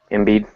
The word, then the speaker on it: Embiid: Embiid.